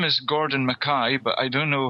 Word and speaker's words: Mackay: date about this but my second name is actually pronounced maai as in you know your ey so my name is Gordon maai but I don't know